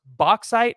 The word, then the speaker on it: Bauxite: But let's take a look at Marcus Wimberly, the 6'1", 200-pound out of, and I believe it's pronounced Bauxite, Arkansas.